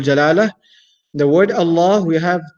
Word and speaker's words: Allah: a heavy manner and if the last vowel that comes before the word Allah is is a casaba then the word Allah will be pronounced in the light manner so the word Allah